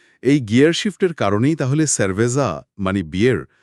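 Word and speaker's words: cerveza: এই গিয়ার শিফটের কারণেই তাহলে স্যারভেজা মানে বিয়ের শব্দটিতে সি এর পরে ই থাকার কারণে উচ্চারণটা ক্যারভেজা না হয়ে স্যারভেজা হচ্ছে।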